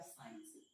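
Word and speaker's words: science: एस के बाद जब जब सी का यूज किया जाता है तब वहां पर जो सी होता है वो क्या होता है, साइलेंट होता है। एग्जाम्पल के रूप में जैसे आप साइंस, साइंस, सेंट, इन सारे में जो सी है वो क्या है बेटा, साइलेंट।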